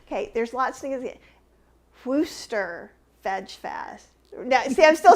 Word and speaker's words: Worcester: way to say it we say worcester worcester worcester that might not be correct it is correct and i just can't